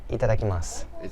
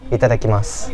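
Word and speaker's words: いただきます: We say it like itadakimasu. Itadakimasu.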